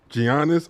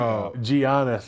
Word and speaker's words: Giannis: I'm like, it's a silent G.